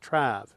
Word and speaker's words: traveling: traveling traveling note that in traveling the first syllable of course is stressed trav and then the OL of course weak then